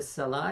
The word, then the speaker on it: salat: Did you go to the salat? Oh. Salah. Salah and salat are the same word, but you pronounce the T, the sound of T, if you're continuing.